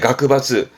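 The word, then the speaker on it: 学閥: 자이바츠, 재벌의 자이바츠, 학벌의 가크바츠, 파벌의 하바츠.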